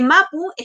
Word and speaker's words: mapuche: palabra declinen plural entonces la s no es necesaria porque mapuche gente es tierra y che gente entonces buchert es gente de la tierra en un sentido amplio entonces se pronuncia sin la letra s respecto a la pregunta